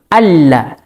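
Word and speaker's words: أَلَّا: Ya, kemudian di dalam lafadz la di sini, di situ juga mengandung tasydid karena adanya nun sukun bertemu dengan lam, sehingga kita membacanya asyhadu alla.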